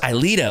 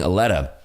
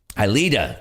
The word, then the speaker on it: Ilita: Pronounced Ilita. Okay, thank you so much. I was saying Aletta. Ilita.